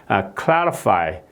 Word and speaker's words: clarify: 이렇게 rid 이렇게 발음 안하고 요즘에는 이렇게 이렇게 발음한다 이런 말씀이죠 예예 그다음에 이제 if 이제 중간에가 있는 경우에 clarify clarify clarify 이게 이제 왜냐면은 이게 한음절이에요 예